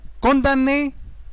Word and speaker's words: condamné: Les mots condamné et gymnastique. Les lettres M, N se prononcent N seulement. La lettre M est non prononcée. Condamné, gymnastique.